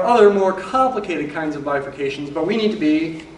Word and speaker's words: bifurcations: videos about section 1.7 the word up there is pronounced bifurcations not differentiations or defercations but bifurcations in chapter one its